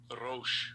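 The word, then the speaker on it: ראש: The word Gaul means, in the Hebrew, Strong's H it's pronounced 7219. Ramath Negev. damn, it don't look like And it's second entry, Rosh.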